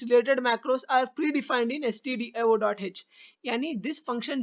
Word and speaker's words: stdio.h: अक्सर लोग इसको stdio.h के बगैर studio.h पढ़ते हैं क्योंकि वो गलत है। stdio.h करेक्ट प्रोनाउंसिएशन है।